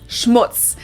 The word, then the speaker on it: Schmutz: on my list is Schmutz this one is pronounced and used the same way in both languages it means dirt and